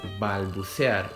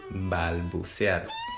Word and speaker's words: balbucear: The correct way to pronounce this word was balbucear, which stands for babble, to babble. Balbucear.